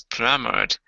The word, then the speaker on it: plummeted: You pronounce the ed when you end a verb with d or t. Then you actually pronounce the id.